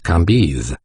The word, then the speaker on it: Cambis: which was pronounced levi cambis c a m b i s pronounced can be these antique visages and